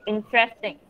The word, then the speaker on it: interesting: Kemudian ini, interesting. Ini bacanya tuh gini. Interesting. Coba ikuti yang ini. Interesting. Ya, good. Bacanya gitu. Interesting. R-nya agak dipelo-peloin coba. Interesting. Lagi, lebih pelo lagi.